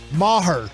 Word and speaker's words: Maher: it is time for NFL fiction or non-fiction Maher that's how you say his name that's right